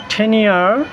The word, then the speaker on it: tenure: স্থায়ী চাকরি বা পথ আর টেনিয়ার এটার উচ্চারণ আমরা টেনিউর অথবা টেনিউর আমরা বলবো না এখানে আর সাউন্ডটা সাইলেন্ট থাকবে সো আমরা যেই সরকারি পদে